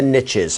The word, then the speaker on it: niche: You've heard the saying, the riches are in the niches. And I guess that's why I think it's niche, not niche, because it rhymes with riches.